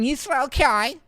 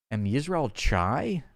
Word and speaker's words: Am Yisrael Chai: And they just kept saying, I'm Yisrael Kai. I'm Yisrael Kai. I'm Yisrael Kai. And they say it like all snooty like that, like a bitch. I was like, what? Am Yisrael Chai?